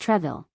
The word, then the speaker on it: Troisville: This was meant for Henri-Joseph de Peyre, Count de Troisville's, 1642 to 1708, pronounced Treville, a very intelligent and